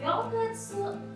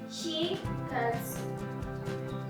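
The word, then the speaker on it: 四月: Untuk bulan April dibacanya bukan Yongatsu tapi Shigatsu.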